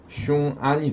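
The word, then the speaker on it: 雄安: 있는 이국영이라는 자가 있는데이가 지금 웅안신도시에요 중국 발음은 흉안이 되는데이 바로 시진핑의 이치적이라고 하는이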